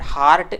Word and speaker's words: heart: So I request you friends that don't utter this word heart as a hurt, and don't hurt the heart by saying wrong pronunciation.